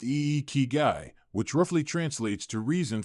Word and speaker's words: ikigai: In Japan, there's a beautiful concept called ikigai, pronounced e kigai, which roughly translates to reason for being or purpose for living.